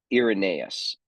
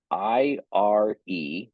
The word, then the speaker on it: Irenaeus: There is another theologian I'd like to talk about in the early church, whose name is Irenaeus, Irenaeus, Irenaeus, or Irenaeus, depending. I hear it pronounced many different ways.